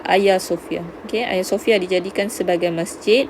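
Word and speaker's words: Hagia Sophia: membina ayasofia Oke ah Agya tuh kita sebut dia sebagai Ayah Sofia saya sebutan gitulah ejaan Hazel tapi sebutan dia adalah Ayah Sofyan kea Sofia dijadikan sebagai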